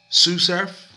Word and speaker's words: SuSurf: SuSurf, that's how you pronounce his name, SuSurf, he done a freestyle, I think, on I-95, set the bar up so high.